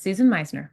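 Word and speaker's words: Susan Meissner: Is that how you pronounce her name? Yes, that is Susan Meisner.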